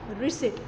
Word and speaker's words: receipt: and capital income or receipt. See, it is pronounced as receipt, not receipt. Here the P is silent, so we need to pronounce it as receipt.